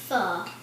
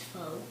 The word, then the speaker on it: pho: can cook toel today we're making F and it's spelled p h o which most people think it's faux but it's a Vietnamese